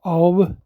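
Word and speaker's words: אוב: This word H178, familiar spirits, is translated as Aleph Vav Bet, and it would be pronounced as Aub, and it means a water skin bottle or a necromancer.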